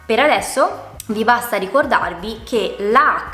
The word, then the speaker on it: chela: In parole come per esempio chicco o chela.